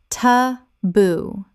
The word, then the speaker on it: taboo: Correct pronunciation. Ta-boo. Two syllables with the stress on the second.